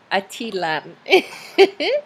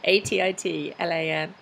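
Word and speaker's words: Atitlán: Okay, Atilan. That's so wrong. Atitlan.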